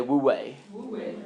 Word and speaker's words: Wu Wei: okay there's this concept called the Wu Wei everybody say we way right we're way under